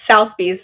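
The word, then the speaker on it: Sotheby's: But anyway, it's South Bees. That's how you spell it if you want to look it up.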